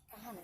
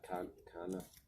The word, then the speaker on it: Kahana: Kahana, right? Kahana? Not Kana. Oh, it has to start with the shva. What's it called? The one, the shva that you pronounce? Shvana is the one you pronounce? Because it's going forward. Going forward, shvana. So kahana, or is it kahana? It's anyways a pata.